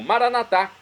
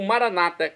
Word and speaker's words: Maranata: Deus acate e agora eu clamo maranat como dizemos nós católicos ou Maranata como dizem nossos irmãos das Comunidades evangélicas ou protestantes não importa pronúncia o significado é o mesmo